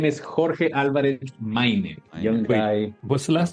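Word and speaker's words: Máynez: His name is Jorge Alvarez Maynez. Young guy. What's the last name? Maynez? Maynez. Maynez? How do you spell that?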